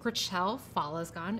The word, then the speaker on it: Gritchelle Fallesgon: um if you're wondering how to pronounce my name it is gracel falasgan as you can see